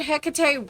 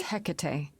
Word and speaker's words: Hecate: Do you guys pronounce it or hate? Because I have heard it both ways. Um, we'll go with the way that the the um game is pronouncing it. Would Hecate really help me?